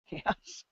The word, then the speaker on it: KaOS: Chaos. Ka. Ka. It's spelled KAOS. That's Chaos. right.